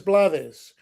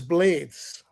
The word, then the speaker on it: Blades: In Spanish, the pronunciation is Blades, and we confirmed it